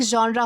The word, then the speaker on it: genre: बहुत सारे लोग इसे जरे जैनर अलग-अलग तरीके से प्रोनाउंस करते हैं जो कि बिल्कुल भी गलत है। इसका सही प्रोनाउंसिएशन होता है जॉनर यानी कि जॉनर्र। इस तरीके से आपको जो है वह प्रोनाउंस करना है।